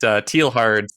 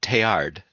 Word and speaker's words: Teilhard: And then you can get Tealhard's idea of God that could do that. I started listening to the audiobook, and they pronounce that Teilhard.